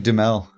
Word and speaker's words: Duhamel: Duhamel dumb all what how do you say it Duhamel you're just making fun of me for nothing it's like demel oh